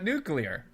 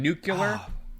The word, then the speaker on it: nuclear: my God this guy mispronounced uh nuclear right that the that was it he said nucular nucular yeah that for for